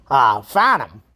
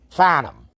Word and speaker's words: Farnham: Farnham, now that's a little tougher name, and that's pronounced fa, as in not near, and numb, as in like pounding your thumb, and after the pain goes away, it's numb.